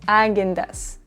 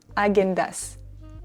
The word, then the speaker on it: Häagen-Dazs: En français, on dit plutôt Häagen-Dazs. Häagen-Dazs.